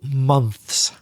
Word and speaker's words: months: But a mistake which you have made, which many people, many foreigners make, is the very difficult pronunciation of plural 2 months. You didn't put the s at the end.